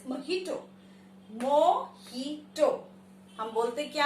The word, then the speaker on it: mojito: This is not mojito, it is mojito.